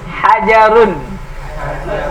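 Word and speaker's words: حَجَرٌ: Hajarun. Ah, pendek, jangan dipanjangi, jangan hajarun. Hajarun.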